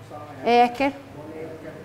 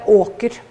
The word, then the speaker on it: eker: Eker. You say eker. You don't say åker.